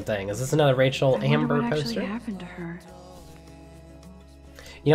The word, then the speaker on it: Amber: been gone for months Rachel Ambler I didn't say her name right I put an L in there Rachel amber uh yeah she was